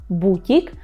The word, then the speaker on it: бутік: це є ще чувка є будь-як бутік так і скажемо тільки наголос на УП бутік ну і ще є